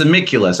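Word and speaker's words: Amicvlvs: them those are used it's like it's amyculus I like to compare it to like you know Bunnicula or something like that I was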